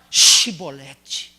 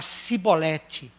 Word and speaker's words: chibolete: Só que para atravessar o Jordão, você tem que aprender a palavra chibolete. Porque se você for falar cibolete, você vai ficar aqui.